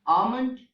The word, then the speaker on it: almond: two other examples like almond and salmon okay so these are the words in which the letter L is silent the next silent letter